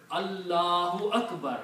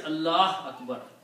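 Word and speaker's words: الله أكبر: But if it is in the middle, you have to pronounce. Allahu Akbar. You have to say, you cannot say Allah Akbar. You have to make a full pronunciation. Allahu Akbar.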